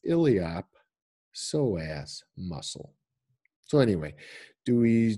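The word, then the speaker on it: iliopsoas: in front of that then the P gets pronounced so it's illiop soas muscle so anyway do we do you guys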